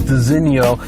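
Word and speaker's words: designo: should also mention first of all this is pronounced designio but uh there's this little crystal that is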